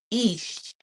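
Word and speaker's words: Ix: Is um ish eh is what that's pronounced as as a wizard aka jaguar.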